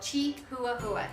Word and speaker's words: Chihuahua: I learned to spell Chi-hua-hua. Here's how you spell it. Chi-hua-hua. Chi-hua-hua. Chihuahua. The H is silent in Spanish, as you've already learned.